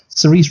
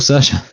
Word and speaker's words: Saoirse: Cerise Ronan, did I say it right there? Cerise Ronan? No, it's still Saoirse.